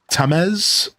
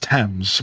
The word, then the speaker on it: Thames: So my thought is Tamez. It looks like the word Thomas with 2 different letters. So my first thought is Tamez. It's just pronounced Thames.